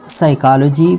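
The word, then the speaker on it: psychology: आया हो जैसे कि पी एस साइकोलॉजी P silent pneumonia P एन या पे पी साइलेंट है उसके बाद पी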